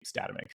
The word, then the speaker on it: Statamic: I'm okay with it, but you'll always hear me say Statamic. That would be how we pronounce it here.